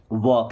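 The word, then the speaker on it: walk: वॉक। देखिए यहां पे एल साइलेंट है ना?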